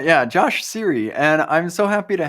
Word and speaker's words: Cirre: it for us yeah it's Siri so just like the iPhone I've heard all the jokes I can hear him again I'm sure you have all right yeah joshh Siri and I'm so happy